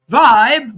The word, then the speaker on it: VYB: You know, Vibe VB, but it's pronounced Vibe Vibbe was introduced as a new